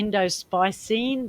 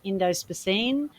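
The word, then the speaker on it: indospicine: it's actually indigofra and it could be endospicine but it's endospeciene and that's the toxin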